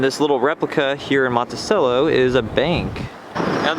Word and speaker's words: Monticello: is a bank and the word Monticello is pronounced Monticello but in good old future dialects they turned this town's name into Monticello so trying to keep it the culture here but I like Monticello better also since I was